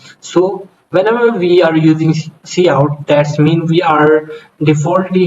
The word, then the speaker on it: cout: brackets with will execute C out pronounced as C out is an object used